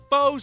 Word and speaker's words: faux: 14 karat gold, 86 karat faux sapphire. Faux is a French word. It's got an X in it, but you don't even pronounce the X.